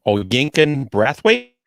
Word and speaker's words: Oyinkan Braithwaite: Oyinkan Braithwaite.